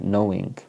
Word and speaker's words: knowing: is with a K there's a silent k k n o w knowing then we have constant